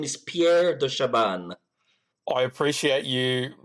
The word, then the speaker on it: Pierre de Chabannes: you Pierre yes hi hello my name is Pierre do Shaban I appreciate you pronouncing your surname for me because I was